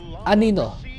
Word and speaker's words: Anino: Your Filipino word is Anino. Anino is the Filipino word for shadow. Anino. So the stress is in the ni. Ni no. The second syllable is where the stress is. So anino.